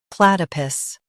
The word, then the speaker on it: platypus: plat i pus, platypus Stress plat and keep i soft.